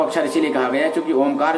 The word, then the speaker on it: ओम: ओ, उ और मा। ये तीन शब्दों से बनाया गया है ओम।